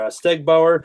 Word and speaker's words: Stegbauer: I like that before the record I was just uh making sure that we had the pronunciation for Steg Bower and yet in my intro I couldn't even pronounce artist.